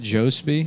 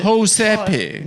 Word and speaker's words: Jospe: Jospe? No. Just It's a- Josepe. Yes, that's Josepe. correct. Yeah, no, I say Jospe, but it's like It's Jose with a Jospe. P in there.